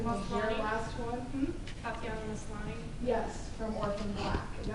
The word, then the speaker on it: Maslany: and Tatiana, and I'm gonna say her last name wrong, she was maybe 10 years old in the Maslany? last one. Hmm? Tatiana Maslany.